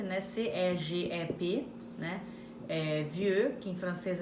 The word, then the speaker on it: Vieux: Vieux, que em francês é velho, quer dizer V-I-E-U-X. Montréal, que é Montreal, como se escreve em português.